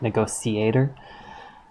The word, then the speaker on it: negotiator: that she did it the T wasn't pronounced like an sh it was pronounced like like a soft C like negotiator and how are the